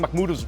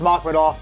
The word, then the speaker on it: Makhmudov: Are you telling me I'm saying McMud's name wrong this whole time? I think it's Machmov, but Machmov.